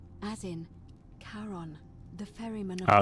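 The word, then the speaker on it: Charon: It's just as you described it, only your pronunciation is a little off. The name you heard wasn't Karen. It was C H A R O N. As in Karon, the fairy man. Karon.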